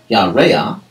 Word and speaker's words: Yareah: on the practice side, the large letter is there to tell you that you have an unusual pronunciation of that word, and that the accent of that word will actually appear earlier rather than later, hence the large letter.